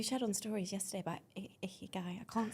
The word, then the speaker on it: ikigai: And it's Ikigai, so I definitely said it wrong on stories.